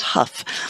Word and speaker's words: Hough: It's spelled Hough, but I asked my friend Colin, who lives in England, how to pronounce it, and he checked actually. He called somebody in the area and found out that it was pronounced Huff.